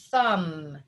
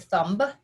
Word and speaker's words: thumb: this is the word thumb that m b diagraph that b is silent this is not the word thumb it's the word thumb